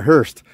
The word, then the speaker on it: Hearst: Not a very friendly town there, Hearst. And it's spelt like the Hearst. Hearst. Like, those cars that carry coffins?